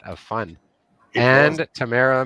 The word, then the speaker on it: Tamara: Tamara, fresh off of speaking at CBA, our express entry expert, and Yeah. from the nation's capital. I feel like we Another still Twitter butcher extraordinary. Tamara's name.